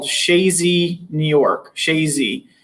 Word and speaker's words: Chazy: stock in is called chazy new york chazy everybody has a different name for it when they see it written down but it's pronounced shazy and that's where the